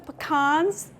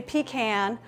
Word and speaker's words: pecan: How do you pronounce P-E-C-A-N? So I'm from the South. A lot of times I say pecan, but there was a study done, a survey by the Pecan Council, and 70% of Americans say pecan. So I'm doing my best to say pecan, but honestly, it's however you want to say it. I've even had people say pecan. There's no correct way to pronounce it.